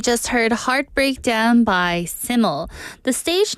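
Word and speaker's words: SYML: heard heart breakdown by siml the stage name is spelled s yml and is pronounced siml which translates to simple in Welsh siml is the stage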